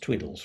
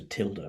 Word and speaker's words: tilde: precise mathematical meaning uh it's pronounced twiddles rather cutely uh in at least this is in mathematics of course it's a tilde really but there we go